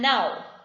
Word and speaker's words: know: the words no and now no means to know something to get to know to understand that is no okay which has a cave which is silent now means abhi right